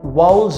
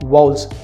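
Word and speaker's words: vowels: I call them वाउल्स of winning attitude. वाउल्स अंग्रेजी जुबान में AEIOU, ये 5 लेटर्स हैं जिनको अनफॉर्चुनेटली बहुत से लोग वाउल प्रोनाउंस करते हैं, जबकि सही प्रोनाउंसिएशन है वाउल्स।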